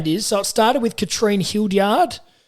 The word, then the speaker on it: Katrine: So it started with Katrine Hildyard, if I pronounce that right, Diz. Yeah, that sounds right. It is Katrine.